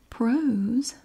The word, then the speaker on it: prose: is forms of prose prose rhymes with nose is any writing that